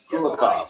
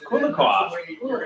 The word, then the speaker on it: Kulikov: How do you pronounce that name? Kulikov. Kulikov.